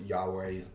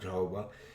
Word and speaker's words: Yahweh: there and uh so you pronounce yahweh's name is yahweh uh not jehovah uh but i don't